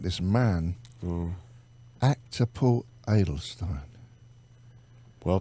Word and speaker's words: Paul Adelstein: I'm looking at this man who act to pull idle Stein well pronounced I'm so impressed truly you see what